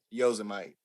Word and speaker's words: Yosemite: Yosemite.